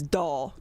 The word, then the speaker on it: Dull: the way it's spelt and the way it's pronounced you'd never guess it well i will say my legal last name is doll d-u-l-l i mean that was so horrible growing